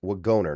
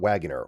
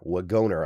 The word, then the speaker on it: Wagoner: Nick Wagoner, not Wagener. Wagoner I believe is how you pronounce it.